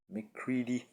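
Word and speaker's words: McCready: the band Stone and Mike mccre Mike mccre mccre that's how you say it um but yeah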